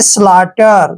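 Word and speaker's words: slaughter: हमने क्या करना है जब भी टी से पहले यू जी और एच आता है तो टी से पहले यू जी एच का उच्चारण हमने नहीं करना है ध्यान रखना है एस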